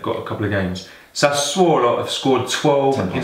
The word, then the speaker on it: Sassuolo: Okay, Sassuolo. Sassuolo. AC Milan. At least say it properly, mate. Sassuolo. People want to know who you're talking about. Sassuolo versus AC Milan.